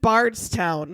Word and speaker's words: Bardstown: It's in Bardstown, which I guess it's south of Louisville, and it's kind of where distilleries. How do you spell it? Bard, like the Shakespeare. Bardstown. Yeah, like the Bard.